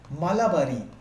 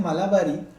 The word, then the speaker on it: Malabari: तो बहराम जी के नाम से आप लोगों ने सुना होगा हिस्ट्री में, BEH स्पेलिंग लिखते जाइएगा, BEHRAMJI, बहराम जी, M मालाबारी, MALABARI, मलाबारी, और दूसरे हमारे सामने दीवान, DIVAN।